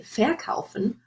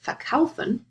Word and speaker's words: verkaufen: So, for example, you have verkaufen to sell or besuchen to visit, and I underlined the word stress here, so you wouldn't say verkaufen or besuchen, you would say verkaufen and besuchen.